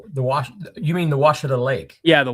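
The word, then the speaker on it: Ouachita: You mean the Washita Lake? Yeah, the Washita.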